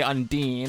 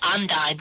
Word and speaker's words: Undyne: I always say Undine because that's how I pronounced it from the very beginning, and I pronounce it Undyne because it's like undying.